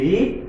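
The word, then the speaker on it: read: এটার মধ্যে যেমন আমরা এটা একই আর ই এ ডি রিড, আর ই এ ডি রিড, লেখাটা দেখতে একই দেখা যায় কিন্তু উচ্চারণে ভিন্ন। রিড রেড, তাহলে হি রেড এ বুক।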